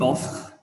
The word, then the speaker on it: offre: Il ne faut pas prononcer le E final. Tu offres, il offre, elle offre, on offre.